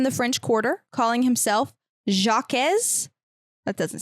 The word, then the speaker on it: Jacques: It's French. There's just like Jacques. Jacques. There's an S at the end.